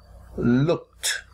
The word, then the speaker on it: looked: C or K, when a verb ends in the letter sound of K, like the verb look, and we add ed to make it past tense, we write looked, but we pronounce it looked, looked, looked.